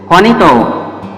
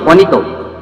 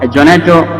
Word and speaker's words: Juanito: Juanito. Actually, that pronunciation in Spanish is Juanito. Juanito. Yeah? Juanito is the right pronunciation of Jonato, what we are pronouncing.